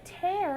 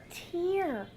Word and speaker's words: tear: he has a and how do we pronounce that one it's not a tear it's a tear sometimes words that have more than one meaning they sound a little different like tear or tear